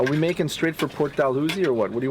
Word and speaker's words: Dalhousie: And are we making straight for Port Dalhousie or what?